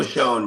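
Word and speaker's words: Schoen: Sheen show Shonen, if I say his name right. Oh, Joe Shonne.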